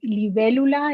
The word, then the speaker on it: libélula: Has that accent on the E, libélula.